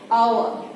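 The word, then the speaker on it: hour: কেন ভাববে, আমি বলি এইচ এর এই শব্দটার উচ্চারণ হচ্ছে না এখানে, তুমি একটু উচ্চারণ করে দেখো আওয়ার, এইচ এর উচ্চারণ টোটালি নাই এখানে, আমরা উচ্চারিত করছি কি আওয়ার, মানে ওর থেকে আমরা উচ্চারণটা করছি, এইচ এর উচ্চারণ আমরা করছি না।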